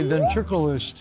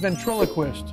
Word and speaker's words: ventriloquist: uh andy rose this is dave he's my ventricularist it's ventriloquist huh it's pronounced ventriloquist what never mind never mind anyway nice to